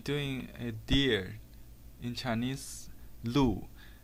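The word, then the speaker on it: 鹿: a deer in chinese liu the pronunciation of this animal ooh is the same as another Chinese character Lou which means official salary therefore dear in Chinese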